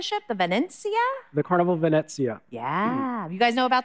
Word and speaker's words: Venezia: okay so help me practice one more time Venezia Bennett yeah Valencia yeah okay past so tell